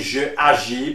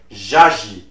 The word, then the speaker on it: j'agis: For example, for le verbe agir, you will not say je agis, but you will say j'agis, J apostrophe.